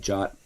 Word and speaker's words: JWT: more work and in cloud services they've added jot or JWT integration to see if as well